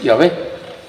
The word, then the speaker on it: Yahvé: Entonces, pero lo más correcto es decir, Yahvé. Yahvé.